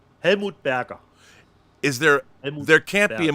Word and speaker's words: Helmut Berger: How do you say Helmut Berger in German? Helmut Berger.